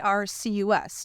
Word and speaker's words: Bircus: So if you're in Covington or Ludlow, you have to go to Burkus. It's Bircus, just how it sounds. Circus with a B for the beer.